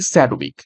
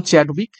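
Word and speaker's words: Chadwick: হয়ে যাবে option D স্যাড উইক actually নাম চ্যাডউইক ঠিক আছে চ্যাডউইক তো সেটার উচ্চারণ অনেক সময় স্যাডউইক হয়ে থাকে তো দেখো কিছু গুরুত্বপূর্ণ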